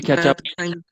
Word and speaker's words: catch up: Yes, so the stress is on up.